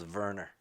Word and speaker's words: Wernher: that's what we're doing i always thought the w's returned to v so not the other way around like volkswagen yeah the w's are v's so his name's verner hmm yeah was it